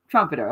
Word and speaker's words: Trompetter: introduction oh you're welcome am I pronouncing your last name correct Trumpeter Trumpeter okay I am great how are you today